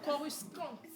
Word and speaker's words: coruscante: La beauté, elle est corrompue ou c'est corrupue? Coruscante. Coruscante. Il faut bien prononcer Coruscante. Attention. Faut pas brutaliser le mot.